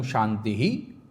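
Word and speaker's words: शान्तिः: ओम शांति शांति शांति लोग ऐसे बोलते हैं जबकि उसका सही उच्चारण है ओम शांति ही शांति ही शांति क्योंकि पीछे में विसर्ग लगा हुआ है।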